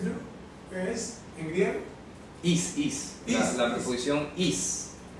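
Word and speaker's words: εἰς: Is. La preposición is. Escribe así, eis. Eis, eso. Pronuncia is significa para.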